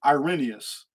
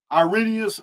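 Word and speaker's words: Irenaeus: problem because there was a man named arenaeus some people pronounce it irenius ireneus ironyers whatever of lions of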